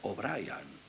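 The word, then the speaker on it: O'Brien: apellido era Pérez Brian que era de origen Irlandés y se pronunciaba obrian pero él no solía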